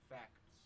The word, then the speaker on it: facts: Nobody pronounces the T.